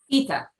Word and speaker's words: Ieda: Am I pronouncing that right, Heidi? Ieda? Ita.